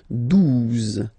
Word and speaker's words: douze: exist phonetically, onze, okay, douze, douze, O, U, the two together will give you the sound OU, okay, and then Z, douze, douze, alright.